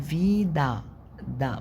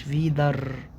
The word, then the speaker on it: Wieder: انا هنا بقول فيدا دا، ما بقولتش فيدر، قلت فيدا دا، ما بنضاش برضو الاغ.